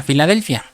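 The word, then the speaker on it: φιλαδελφία: Y aquí usa una palabra griega que se pronuncia Filadelfia, que quiere decir el amor de los hermanos.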